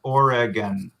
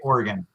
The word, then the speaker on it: Oregon: uh pronunciation number one oregon oregon but normally in in just natural speech i probably say oregon more um so it sounds like you know an organ in your body like your lungs as